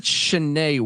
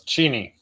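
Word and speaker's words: Cheney: Washington I've heard of Chen Washington is that corre correct no it's cheny cheny see I'm [ __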